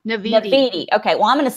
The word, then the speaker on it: Naviti: Is it Nativity or Naviti? Naviti.